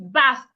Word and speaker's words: bath: So if I want to pronounce this word, I should say bath. Bath. If my tongue is not outside, excuse me. If my tongue is not outside, then I am not pronouncing the word correctly. If my tongue is not